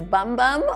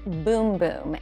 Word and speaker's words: Bum Bum: looks like it says bum bum on the little jar here but in Brazil they pronounce it boom boom and trust us the